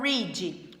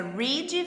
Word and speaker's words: read: Por exemplo, o verbo read. O passado, ele só muda a pronúncia. Read vira read, mas a escrita fica igual.